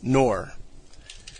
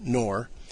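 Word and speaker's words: Knorr: to another figure here and that is nathan nor and i will have to spell that nathan's last name is spelled k-n-o-r-r nathan noor now whereas russell and rutherford were both dynamic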